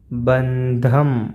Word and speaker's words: ബന്ധം: ഒന്നാമത്തത് ബന്ധം, ഇതിന് 6 മാർക്കാണ്. ബന്ധം, ഉച്ചാരണത്തിൽ മാറ്റം ഉണ്ടാകും കേട്ടോ. ബന്ധം എന്ന് പറയരുത്, ബന്ധം. ഹ വരുമ്പോൾ ആ ഒരു ഹിൻ്റെ ഒരു ചോയ നമുക്ക് പറയുന്നതിൽ വരണം. ബന്ധം.